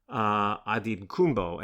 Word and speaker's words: Antetokounmpo: familiar with Giannis Antetokounmpo, and I'm pronouncing that last name in the Nigerian way, perhaps not the way you've heard it before, but Giannis had made clear, now this is Nigerian pronunciation, not the Greek pronunciation.